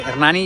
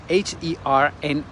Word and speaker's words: Hernani: village of uh hernan by the way hernani you spell it h-e-r-n-a-n-i okay that's how you spell hernani uh as you can